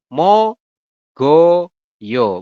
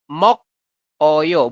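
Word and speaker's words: 먹어요: dengan yo seperti ini jadi kita Bacanya adalah mo go yo bukan mok Oyo bukan ya memang tulisannya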